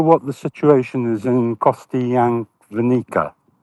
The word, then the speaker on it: Kostyantynivka: Yeah, well, I hope I pronounce this correctly, but do you know what the situation is in Kostyantynivka? Kostyantynivka.